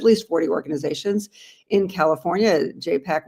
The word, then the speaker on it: JPAC: JPAC rhymes with Apac.